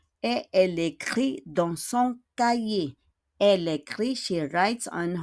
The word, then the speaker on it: cahier: She écrit is to write dans son cahier, in her cahier. Cahier is notebook. We don't pronounce the H. Cahier.